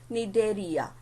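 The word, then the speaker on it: Cnidaria: ये कैरेक्टरिस्टिक्स होते हैं फाइलम सिलेंट्रेटा और सेकेंड उसका नाम है निडेरिया. यहाँ पे आपको सी दिख रहा है बट सी इज साइलेंट.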